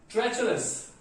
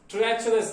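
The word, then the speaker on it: treacherous: First word is ट्रेचरस। ट्रेचरस, ध्यान रखें, इसे ट्रीचरस ऐसा कोई प्रोनाउंसिएशन नहीं है इसका, ट्रीचरस नहीं, दिस इज कॉल्ड ट्रेचरस।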